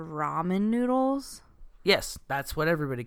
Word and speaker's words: ramen: up a pool yeah is it Raymond or ramen here's the thing everybody calls Raymond is the Blake that's like the white trash way to say it so you know